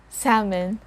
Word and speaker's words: salmon: the child's growth 20 salmon salmon so it's not salmon we don't sound the letter l here it's just a salmon for our example sentence